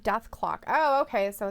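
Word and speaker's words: Dethklok: Ayla says it's pronounced Death Clock.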